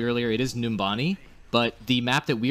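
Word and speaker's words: Numbani: there's something and by the way I did pronounce it correctly earlier it is numani but the map that we are talking about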